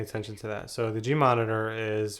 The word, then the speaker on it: GMonitor: going to pay attention to that so the G monitor is right here some people pronounce it GM monitor but uh just says G monitor could get confusing and down here it says